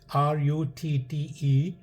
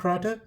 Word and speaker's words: Rutte: The last name is pronounced Rutte. I don't want to pronounce it's like a woman's name. Some newscaster uh, pronounced it's Ruth. I think it's. I like to say the way I feel, right? I think it's Ruta or Rata, whatever.